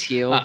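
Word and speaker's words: Gil: the young picture luis his name's spelled kill but you know he's healed yeah luis heal came back he hasn't given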